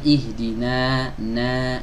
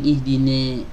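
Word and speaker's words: اهْدِنَا: Jadi yang benar ihdina, na. Ya, ada juga yang pingin menyempurnakan setengahnya biar lebih apa ya, pertengahan gitu ya. Jadi ada yang membacanya itu dengan miring, ihdine ya, ihdine, ne, ditarik ke samping sampai berlebihan ya.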